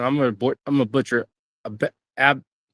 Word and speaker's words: Abaddon: I was saying I don't see how I can't pronounce her name. I'm a butcher. Abaddon. Abaddon, yeah.